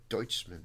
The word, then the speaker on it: Deutschman: So you pronounce it Deutschman. Deutschman, okay. Because it's German.